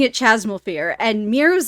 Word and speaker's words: Chasmal Fear: Well, for everyone who's curious about the name, I did a lot of research regarding that, and Americans pronounce it Chasmal Fear, but British people pronounce it Chasmal Fears.